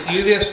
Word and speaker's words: Juliusz: Can you pronounce it once for us? Full name. Juliusz.